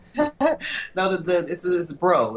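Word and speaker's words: Breaux: that the this is bro it's uh pronounced like bro but it's bro in the french way oh yes yeah yeah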